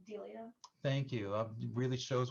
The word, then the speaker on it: Delia: Why is Amy anything like, is it Delia? Delia. Thank you. It really shows what a library professional I am when I can't pronounce the name of the author correctly.